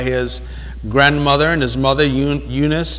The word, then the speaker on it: Eunice: grandmother and his mother Eunice or unicee as they pronounce the back of that day and Lois but he